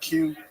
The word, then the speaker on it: Qi: I don't know how you say it. It's an Asian restaurant. Ki. Yeah, there you go.